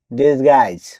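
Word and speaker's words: disguise: ডি আই এস জি ইউ আই এসই দিস গাইস অর্থ ছদ্দবেশ। এখানেও জি এর পরে ইউ আই আছে। তাই এখানে জ এর পরে ইউ লেটার দিলেন থাকবে।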